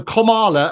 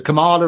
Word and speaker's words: Kamala: kids pronounce their name it's actually uh Comm as in sort of comma so like punctuation so Kamala as opposed to Kamala or Cami or anything like that sort of stuff um and a lot